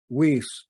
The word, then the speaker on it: Wise: Weiss is how we pronounce that.